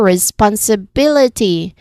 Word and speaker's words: responsibility: Here the rule says stress on third from the end. Again stress on the third syllable from the end. So we step back two times.